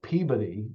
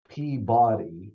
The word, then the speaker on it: Peabody: you have Peabody, which is Peabody, right? Because Uh-huh. it's Peabody, you get an extra syllable there.